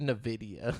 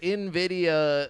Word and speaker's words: Nvidia: real quick like we will do the video Nvidia is how do you pronounce it it's Nvidia yeah I've always said in a video and what is the is it even or